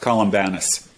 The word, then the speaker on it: Columbanus: you pronounce his name in English it's usually pronounced columbanus columbanus yeah yeah and uh and once again